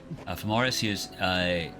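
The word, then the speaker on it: Fomorous Hughes: So, I'm guessing since Femoris Hughes, now that I know how to properly pronounce his name, Famorus Hughes, knew that the one Ptorian was actually like out to get him.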